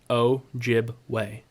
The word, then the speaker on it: Ojibwe: Ojibwe. Interesting. It's pronounced exactly how it's spelled.